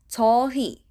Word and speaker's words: 저희: The pronoun we in Korean polite form is 저희. 저희. 저희. But because in Korean we usually speak it very fast, we end up just saying 저희. 저희. Pronounce the he as e, like 저희.